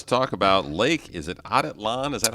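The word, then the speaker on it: Atitlán: Is it Atitlan? Is that how you say it? Atitlan, that's right.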